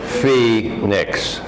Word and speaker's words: Phoenix: baseball game in Phoenix this is how it's spelled but Phoenix Phoenix Phoenix last month I bought